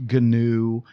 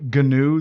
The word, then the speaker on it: GNU: I'll let you do your own internet search on why GNOME is pronounced GNOME and why GNU is pronounced GNU. It has to do with nerd humor and recursive acronyms, and I'll leave it